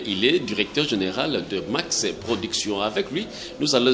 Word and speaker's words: Maxe: C'est pourquoi dans la prononciation, on a toujours dit Max. Donc c'est M-A-X-E, qui veut dire mentalité d'analyse d'une production évolue.